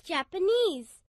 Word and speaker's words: Japanese: She's Japanese. Pronunciation tip. Most words ending in ese stress the final syllable.